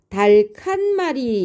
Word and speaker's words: 닭한마리: 흙을 만났으니까 크가 되겠죠 달칸 말이 이렇게 우리가 소리를 내야 돼요 그런데 일상에서는 달칸 말이라고 하지 않고 닭한마리라고 합니다 어째서 그렇게 소리가 나는지 찬찬히 보겠습니다 음절 끝에서 자음 군인 겹받침인 리을 기억이 동시에 발음되지 못하죠 그래서 단순화가 되는데요 자 무엇으로 단순화가 되겠습니까 리을이 탈락되고 기역만 남습니다 자 이때 일어나는 의문현상은 탈락이죠 탈락이고 자음군 단순화가 되겠습니다 닭 한 마리 요렇게